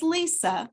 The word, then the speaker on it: Lysa: and introduce myself so my name is Lisa but it's spelled with a Y it's l-y-s-a and a few months